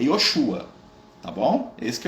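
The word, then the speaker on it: Yeshua: O nome de Jesus mesmo, que a mãe dele chama, ó menino, vem cá, é Yoshua.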